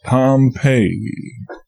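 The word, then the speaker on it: Pompeii: the buried city of Pompei they pronounce it pompe I always had an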